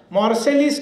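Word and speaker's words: Marseille: का जो बंदरगाह है उसको मार्सेलिस हम प्रोनाउंसिएशन करते हैं, वो मार्से ऐसा है, वो ये भी नहीं बोलते, मार्से।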